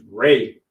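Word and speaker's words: 礼: The word for bow is ray. Ray, like a ray of sunshine. It's spelled different than that, but it sounds the same.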